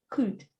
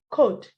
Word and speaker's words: could: That word is not could. It's could. Good. Okay. Could. So we are going I added the L because the L is silent.